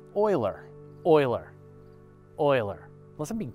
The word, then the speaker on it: Euler: black holes is is not connected James Craver uler is pronounced Oiler Oiler Oiler unless I'm be punked then and then it's actually uler anyway a couple of people winced when I said uler but it's actually Oiler so I apologize John